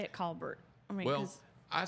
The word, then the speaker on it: Colbert: It It's not It's not Colbert. It's Colbert. C A W B E R T. Colbert.